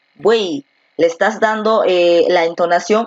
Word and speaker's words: buey: Cuando una palabra termina en Y, esta tiene el sonido de I y se le considera como la vocal I, más no como la consonante Y.